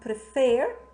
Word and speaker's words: prefer: you remember, we have prefer, okay? Prefer, just trying to refresh your memories. Prefer, this is made of two syllables, prefer. And the second syllable, the last syllable, is stressed.